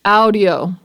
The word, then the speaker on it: Aodyo: It's spelled Aoydyo, and it's probably pronounced audio. So yeah, it's audio. That's the company name. That's who makes this bippy. Hold on. Aodyo. Aodyo. Audio.